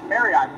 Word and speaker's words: Merriott: Merriott, pronounced like the hotel. Merriott, M-E-R-R-I-O-T, I think, right?